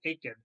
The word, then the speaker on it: Aiken: net the call well that's how we're supposed to pronounce his name is Aiken who had 47 points